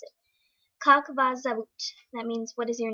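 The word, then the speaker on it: Как вас зовут: So that's how you spell it, and this is how you pronounce it. Kak vas zavut.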